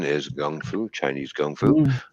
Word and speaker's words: kung fu: that's right and chinese uh we call it kung fu but it's actually the correct brown pronunciation is gung fu chinese kung fu it's all it's all defensive